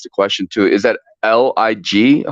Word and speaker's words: Lig: question too is that l-i-g how do I pronounce how do I say your name sir like life is good that's Lig okay life is good